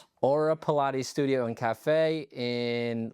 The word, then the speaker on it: Aura: Today, I have on Paola from Aura Studio and Cafe. How do you say it in Spanish? Aura. Aura. See, I say Aura. It's kind of the same, it's just the accent.